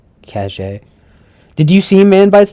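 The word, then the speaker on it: Caché: what cat cache catch sorry cash i think it has an accent on the e though right cache did you see man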